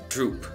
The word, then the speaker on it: བསྒྲུབས་: okay and so this word ends up getting pronounced as droop Bao saga tagada da Josh a tutu pasa